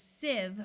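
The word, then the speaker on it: sieve: the short e sound this is Civ with a short IE sound a Civ is something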